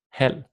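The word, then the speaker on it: halv: It is silent when we see it after the letter L. For example, selv, hal, and tol. And this is very important. I see or hear many Danish learners pronounce that V, and we're absolutely not pronouncing it when it's placed after an L.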